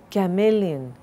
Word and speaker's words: chameleon: Chameleon, this is a sort of an animal, and we also say changing colors like a chameleon. It's not chameleon, chameleon.